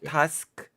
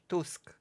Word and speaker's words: Tusk: You're pronouncing it correctly. Not Tusk. Tusk. Tusk. Yes. Yes. Just because I've heard Polish people say it.